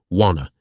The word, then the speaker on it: wanna: For your pronunciation hack, the words want to transform instantly into wanna. You do not pronounce the T sounds at all. Say it with zero effort, letting your jaw relax. Wanna hang out?